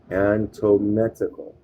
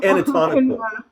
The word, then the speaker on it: anatomical: Antometical. Hold on. How do you say it? And I think it's anatomical. Having to do with anatomy. Let's look it up. That figures. Question. It's anatomical.